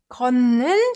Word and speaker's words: 걷는: So before we actually read this, let's try pronouncing ut sound with 느 sound. This ut sound softens to as soon as it meets 느 sound, right? So that's what happens. 걷는 중이에요.